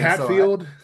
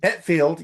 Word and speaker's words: Hetfield: Hatfield. Uh-huh. Hetfield.